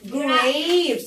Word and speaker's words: grapes: عنب grapes. احنا قلنا الA لما يكون في ايه في الكلمة الA تتنطق A فنقول grapes. عنب grapes.